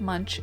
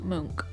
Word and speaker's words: Munch: And speaking of fact checking, this is not pronounced Munch, it is pronounced Munk.